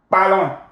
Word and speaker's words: parlons: Nous parlons. Nous parlons. On. The S here is silent. And then you pronounce the O-N as a nasal vowel.